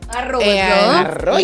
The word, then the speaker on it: Arroyo: Arroyo. You gotta roll your R's.